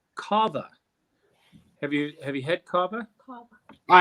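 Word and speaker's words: Cava: Carver, I think it's pronounced Carver.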